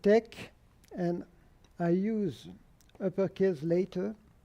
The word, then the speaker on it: TeX: The program that we call TeX, lower cases and Latin pronunciation, is in fact not a program by itself.